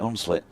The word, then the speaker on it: Hunslet: run and of course if you from round here you definitely would not be pronouncing the H and You' be you'd be saying it unlit unlit yeah well Bill